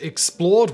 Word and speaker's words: Xplrd: channel that i run called explored which is spelt xplrd because i don't like vowels it's got more documentary style